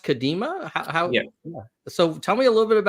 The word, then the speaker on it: Kadima: Tell me a little bit about, is it pronounced Kadima?